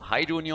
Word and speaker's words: Haidunio: reading it out and apparently it's Polish. So Haidunio on Vala.